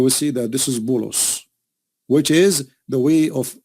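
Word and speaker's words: بولس: If you go to the interpretation, you will see that this is Bulos, which is the way of Muslims, they say and pronounce the name of Paul. In Arabic, we call him Polos.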